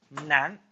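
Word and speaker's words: 难: which means hardship, and it's pronounced as Nan, a little bit different, but they sound similar.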